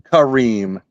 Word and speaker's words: Kareem: Edge guy's name wrong it was khed Karim not kareim green khed Kareem he's still